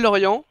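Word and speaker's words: Laurian: Alors, je m'appelle Lorient. Ouais. Lorient. C'est pas trop mais... Ouais, Lorient. Comme la ville, mais s'écrit AN à la fin.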